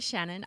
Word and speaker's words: Shanhun: So, my name's Shanhun. I've got a strangely spelt surname, but that's how it's pronounced.